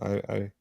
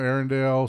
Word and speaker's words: Arendal: Arendal. Oh, I know. I found it, but how do you pronounce it? Arundel or Arundel? Some people call them Arendelle.